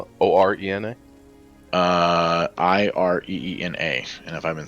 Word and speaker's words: Ireena: How do you spell it? O-R-E-N-A? Ireena, and if I've been saying it wrong the entire time, You know, I wouldn't doubt it.